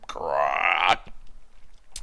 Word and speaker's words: grok: be pronounced more like grok. You have to say it like a frog with a sore throat.